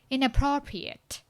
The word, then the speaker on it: inappropriate: ဘာမှဖြစ်ရ Yes, pro မှာဖြစ်ရပါတော့ဒီ sentence stress စီ pro မှာဖြစ်ရဟိုပြီးတော့လေအနောက်ကဟို pre-yate လို့မထွက်ပါနဲ့ pre-yate ရွှာဆောင်ပြောင်းတော့ဒီ at ရဟို pro မှာပဲ stress ဖြစ်ရကျန်တာအကုန်လုံးလေအတန်းကိုဖော့ပြီးတော့ထွက်တော့လေ inappropriate အဲ့လိုမျိုးထွက်တယ်ပေါ့ဟို inappropriate မဟုတ်တော့ pre-yate So repeat after me.